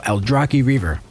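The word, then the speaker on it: Aldrachi Reaver: simple straightforward and big burst AOE damage so alrai Reaver and yes that's how you pronounce it witness the might of the old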